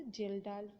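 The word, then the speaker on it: Kjeldahl: in a long neck geldar flask. It is pronounced as a geldal flask.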